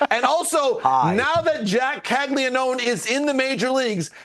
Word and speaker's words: Caglianone: please universally agree upon the proper Italian pronunciation of Calon? Calon. When you see GLI, Calon is how you're supposed to say it.